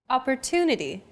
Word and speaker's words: opportunity: Opportunity. The stressed syllable to in opportunity is deemed more important, so it's pronounced longer than all other syllables.